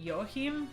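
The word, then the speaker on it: Joachim: is um i think they call it yohim is how they say it's j o a c h i am but they don't say it as like walking they don't say it that one it's they say it differently um but he's he's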